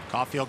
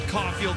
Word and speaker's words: Caufield: So that is Judd Caufield in the box. Same pronunciation on the last name as Cole Caufield, but a minor spelling difference. There's an L in Judd's name.